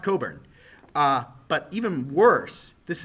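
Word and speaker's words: Cockburn: you have the name Craig Coburn okay it's pronounced Coburn uh but even worse this is this might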